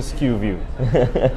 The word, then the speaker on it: SKUview: It sounds like a big name, but how would you do SKUview? How do you spell that?